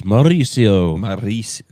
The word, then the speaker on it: Mauricio: You got to roll your R's. Mauricio.